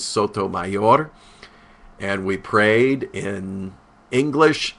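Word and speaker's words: Sotomayor: the Supreme Court Judge Sonia Sodom they're calling her although the correct pronunciation is Soto mayor and we prayed in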